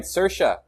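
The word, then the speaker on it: Saoirse: no one ever okay I got it right sersha you know why it's because of sersha ronin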